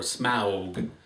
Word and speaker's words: Smaug: Today I want to talk about the Desolation of Smaug, or Smaug, which I think is actually the correct pronunciation now.